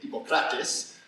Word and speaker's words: Hippocrates: So, getting back to Hippocrates, or as in deference to Marianne, he would be very upset if I didn't actually say Hippocrates, which is the correct pronunciation.